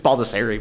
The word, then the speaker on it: Baldassarre: It's Baldassarre, but it Baldassarre. depends on if you're I apologize. from. Depends on where you're from.